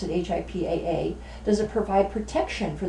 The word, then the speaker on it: HIPAA: patient's interview abuse does HIPAA that's how you pronounce it HIPAA does it provide protection for the security of